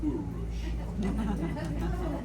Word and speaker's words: Kurush: And he used to call me Kurush. He was the only person in the world that called me that because he knew that was the real pronunciation of the name.